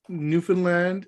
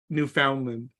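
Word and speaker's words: Newfoundland: the board just to let you know Lance newfinland is pronounced like telegram I'll just call telegram for now on then New Finland not New Foundland well so wait a minute so Telegram and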